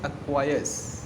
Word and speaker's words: acquiesce: Seventh word is अक्वायर्स। Spelling क्या है?